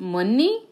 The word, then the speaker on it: Monei: of her canvases so my name is monei it's actually pronounced mni Mone is a Bangladeshi